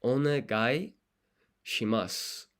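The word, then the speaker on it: お願いします: Because you don't pronounce the U here in su. I don't know if that's like a dialect thing, but I never really hear people say the U.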